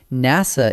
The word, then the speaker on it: NASA: NASA is an acronym, pronounced as a single word.